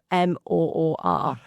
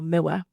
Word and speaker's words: Moor: But because of my accent, I always say in two parts. So ma rather than Yes. Mo or you know Thomas Moore. I say Thomas Mer.